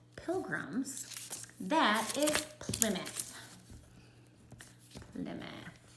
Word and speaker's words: Plymouth: by early English settlers called Pilgrims, that is Plymouth. Plymouth, not Plymouth. I know that's what it looks like, but it's pronounced Plymouth.